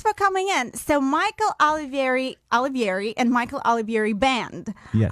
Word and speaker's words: Olivieri: Am I pronouncing it correctly? It's Olivieri.